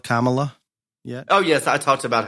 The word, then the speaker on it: Kamala: did you address the camela Kamala oh yes I talked about how Joe pronounced her name three different times in the introducing her as his VP Pig and that my personal favorite was camela so that is what